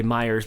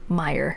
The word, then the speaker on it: Meijer: Walmart the Kmart but I would say Myers because I feel like it's a person's name yeah yeah but there's no s so it's just Meyer Meyer so but you said it right for being I I try not to use the SS but that is the correct way of saying it as a Michigan it's harder to say it like that Meyer so we went to